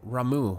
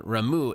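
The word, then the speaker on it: Ramuh: They have reason to believe that the Sifts may have called forth their revered guardian, the Primal Ramu. Is that how you say it? Yeah, Ramu.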